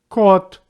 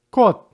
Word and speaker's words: кот: Letter O in the words with one syllable always pronounced like O. You may repeat after me. Кот, кот.